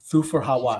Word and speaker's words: Thufir Hawat: How do you pronounce his name, dude? Thufir Hawat.